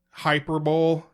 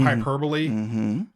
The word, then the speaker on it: hyperbole: Another one, hyperbole instead of hyperbole.